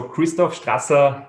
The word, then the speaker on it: Christoph Strasser: your name you have done it perfectly so christoph strasser is is good it's not an immediate pronunciation yeah no fantastic strasser okay because i've